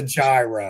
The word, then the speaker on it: gyro: less educated and traveled it's a gyro it's spelled g y r o yes pronounced yo but okay yes so do